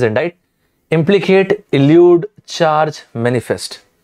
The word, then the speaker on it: indict: Indict or indict, the pronunciation is indict.